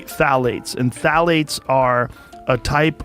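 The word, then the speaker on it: phthalates: the introduction of phalates it starts with a p p t h a l a t s I think it's how you spell it you say phalates and phalates are a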